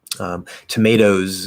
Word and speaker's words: tomatoes: Tomatoes is another good one. We have the E in the spelling, but it's not a separate syllable. It does still happen to be a Z sound, but it's that toes at the end is just one syllable.